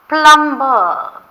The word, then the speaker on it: plumber: Will the plumber, P-L-U-M-B-E-R, but B is silent, so we say plumber.